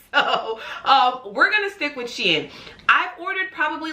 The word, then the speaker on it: Shein: I say Shein, some people say Shine, some people say Shen. I'm not exactly sure. I just say Shein because I think that's what it should be, and that's what I've heard other people say.